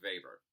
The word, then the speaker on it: Weber: Max Weber was a German sociologist, so it's Weber. It's spelled like Weber. But like Wagner, it's not Wagner, if you're listening to Wagner. Weber is German, so you say Weber.